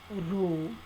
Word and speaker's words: rho: to 1 minus 6 p that is just pronounced mission is rho rho is equal to 1 minus 6 and